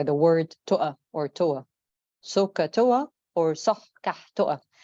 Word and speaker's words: SOH CAH TOA: Or of course, SOH CAH TOA. I think you've heard this before, but this is how I pronounce it.